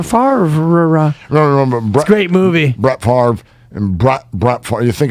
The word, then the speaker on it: Favre: all the time C Brett Favre who has an r in front of the V when the V is actually in front of the r how does that work but you can't have